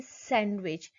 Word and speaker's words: sandwich: Handsome, Wednesday, sandwich. Here you can notice silent D in the above mentioned word.